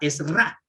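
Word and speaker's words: עזרא: Esdras, que en hebreo significa Esra. Así se pronuncia en hebreo.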